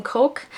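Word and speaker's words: Koch: the dinner by Herman coch I did look up how to pronounce his last name it's said like the drink Coke so this book takes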